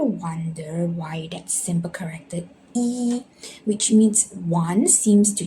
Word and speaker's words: 一: E means one and naturally sits at its first tone, which is E.